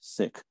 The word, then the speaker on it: Sikh: grew up in a sick family that that is in fact the way to pronounce My Religion s-i-k-h sick and Sikhism and you